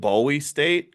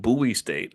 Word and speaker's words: Bowie: buoy is it I I called it Bowie State but somebody said it's buoy so I think that's tell me if I mispronounced it but buoy state I'm going to give